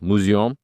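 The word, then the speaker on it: Μουσεῖον: É assim que se pronuncia em grego, Musion.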